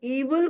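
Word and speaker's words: evil: और ईविल को एविल बोल रहे हैं, एविल नहीं बोलिए, ईविल है इसका करेक्ट प्रोनाउंसिएशन, है ना।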